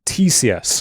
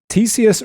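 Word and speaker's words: Ctesias: fifth century BC author uh Tissus I think it's pronounced starts with a C uh that was preserved by the Byzantine author Fotius. Tissius reports that men with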